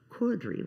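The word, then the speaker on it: Cordery: Stacy Cordry, which I understand is a British way to pronounce it, and she is the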